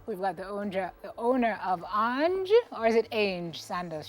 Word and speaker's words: Ange: It's Ange Sandals. That's Angelique Grignon. Okay, gotcha. Let me write it how it's pronounced phonetically.